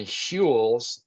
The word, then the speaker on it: Huel: in Naked Nutrition's Naked Vegan Mass Gainer and Huel's, that's spelled Huel apostrophe S, Black Edition protein powders.